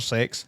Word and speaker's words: CeX: Kex or sex?